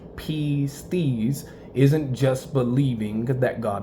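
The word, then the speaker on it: πίστις: In the Greek language, pistis, meaning faith, it's pronounced pistis, isn't just believing that God exists.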